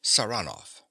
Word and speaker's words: Saranoff: him round this way he pronounces the name with a stress on the second syllable sanov Nicola yes sir he